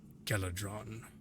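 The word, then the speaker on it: Geladron: My name is Galadron.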